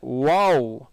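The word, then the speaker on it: واو: நான் பல்லை வச்சு நாக்க சாரி மேற்பல்லை வச்சு கீழே உதட்ட கடித்து வாவ் அப்படி சொல்லக்கூடாது. சிலர் அப்படி தவறாக சொல்லுவாங்க. வாவ் இல்லை, வாவ். பல்லுக்கு வேலையே இல்லை, உதடு வட்டமாகும். வாவ் வாவ் வாவ் என்பதாக இதை உச்சரிக்கணும். WOW மாதிரி வாவ் வாவ்.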